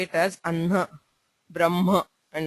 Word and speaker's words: ब्रह्म: hakara and nakara okay so when hakara is followed by the anunasikas like ma or na The Anunasika is pronounced first and the Hakara is heard later. Okay, so it is pronounced as Brahma, and the Hakara is not very pronounced there. It's pronounced subtly.